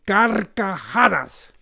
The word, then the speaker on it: carcajadas: Now pronounce it with me. Say, carcajadas.